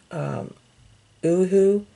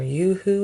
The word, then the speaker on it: Uhu: So you can use the Elmer's glue stick, you can use Tombow, you can use, I think it's pronounced Uhu. It's, or Yoo-hoo. It's spelled U-H-U.